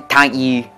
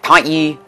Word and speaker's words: tank ye: The word thank you is translated to tank ye. You gotta say it like that. You gotta say it like tank ye. It's spelled the word tank, like an army tank, T-A-N-K, and then Y-U-U.